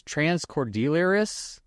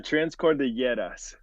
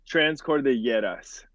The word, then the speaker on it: Transcordilleras: Transcordilleras. So it's like the two L's. Transcordilleras. The two L's become like a Y sound.